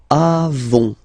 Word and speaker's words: avons: Okay, then nous avons, final s not pronounced, avons.